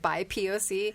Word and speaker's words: BIPOC: I have never heard it said BIPOC until you started pronouncing it that way. I always pronounce it by POC because then I like to think that it's like bisexual people of color.